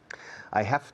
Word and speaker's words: have: La pronunciación del verbo to have cambia bastante. I have, yo tengo un bolígrafo. I have a pen. Have, la V es una V, que suena una F vibrada.